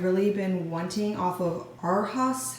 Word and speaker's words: Arhaus: been wanting off of Arhaus, I think that's how you pronounce it, A-R-H-A-U-S.